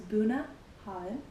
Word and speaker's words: Bunnahabhain: You don't want to be the idiot that doesn't know how to say it. So it's buna holl.